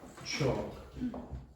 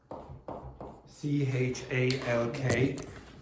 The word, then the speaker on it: chalk: Chalk. Chalk. Chalk. What's the silent letter? What's the silent letter? The L. Okay. So, you don't pronounce the L. It's like walk and talk.